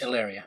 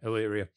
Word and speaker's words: Illyria: king and queen over, is it Illyria? I'm very bad at Greek pronunciations. Illyria, yeah. Yeah, Illyria.